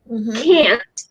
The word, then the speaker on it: can't: The makcik aunt, can't, and. Okay. So if you notice the vowel here, like you go ah and ah for aunt and can't.